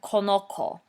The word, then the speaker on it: conozco: Right away you know there's an issue because the original verb says conocer with a soft C sound, and right away in the yo form of the simple present indicative over there on the left, we've written conozco with the hard C sound.